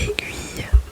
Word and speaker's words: aiguille: Le premier mot est aiguille.